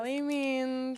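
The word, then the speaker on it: Calley Means: Calais Means, how do you pronounce it? Callie means.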